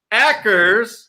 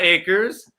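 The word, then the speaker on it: Akers: cardinals that is a cam ackers not acres pronounces the right kev ackers week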